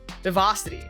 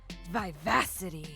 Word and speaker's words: vivacity: Vivosity. I'm say vivosity. That's fun to say. Vivacity. Oh, I pronounced it completely wrong.